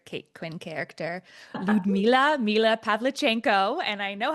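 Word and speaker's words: Pavlichenko: I love that you brought up the word propaganda because that's a great segue into my favorite Kate Quinn character, Ludma, Mila Pavlchenko, and I know how to say it because Saskia Marll is fantastic.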